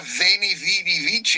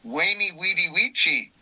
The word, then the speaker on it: Veni vidi vici: went to the university, they told me I was pronouncing the Latin wrong. Yeah, so, instead of Veni Vidi Vici, it was Veni Vidi Vici, according to the university.